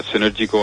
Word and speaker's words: Cnergyico: और क्या कहते हैं, अपना हम केमिकल मैन्युफैक्चरिंग जो एक सेक्शन है, सिनर्जी को आपने बड़ा अच्छा उसको प्रोनाउंस किया, उसकी सही प्रोनाउंसिएशन की.